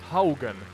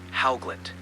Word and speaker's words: Haugland: Knut, was it Haugen? Yes, Knut Haugland.